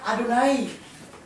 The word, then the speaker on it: Adonai: ya aku adalah aku y h w h bacanya adunai ya atau hasem kalau orangorang Yahudi enggak boleh baca yw yahwe atau Yehova gak boleh orang Yahudi gak